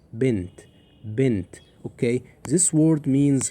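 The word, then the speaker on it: بنت: Ben there is no v literally there is no vowel for noon. Ben okay and then we have t. So this word which is bent kasra below sukun above noon. So it's pronounced like bent.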